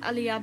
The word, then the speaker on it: Ali: see my message above pronounce Ali is pronounced alah but it's spelled Ali so you're pronouncing it wrong I think please see